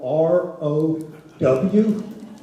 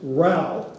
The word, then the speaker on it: Row: you see the word r o w do not pronounce that row uhuh don't know you're in out of town it's Ral because of n fighting quite